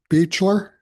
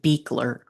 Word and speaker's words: Beekler: Beer. Beer. I've just been told it's Beecher. It's actually pronounced Beakler.